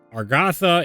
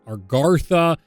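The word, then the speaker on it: Agartha: Gotha burns and apologies I say are Gotha it's our Garza but I could never say it right or quickly and it just comes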